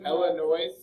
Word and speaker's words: Illinois: Illinois. That's silent.